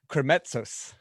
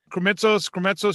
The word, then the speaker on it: Krimitsos: This is the Extraordinary Podcast, and my guest today is Chris Krimitsos. Krimitsos, you said it right.